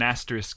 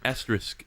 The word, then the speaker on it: asterisk: it's not it's an it's an asterisk with a K is it yeah what